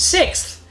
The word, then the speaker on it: sixth: lot of you pronounce the word sixth like you know the number six with a th sorry not sorry I